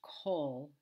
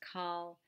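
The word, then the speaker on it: כל: with the khulim but it's always pronounced col it's never pronounced kal it's always pronounced cold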